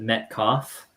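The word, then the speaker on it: Metcalf: makers for sure so Sushi says you pronounce it met cough I think we should actually pronounce the cough so there you go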